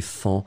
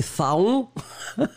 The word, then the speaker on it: faon: On ne sait jamais trop comment le prononcer, mais on doit le prononcer Fan, même si on voudrait le prononcer Faon. Mais malheureusement, Faon, on n'a pas le droit de le prononcer comme ça, on prononce Fan.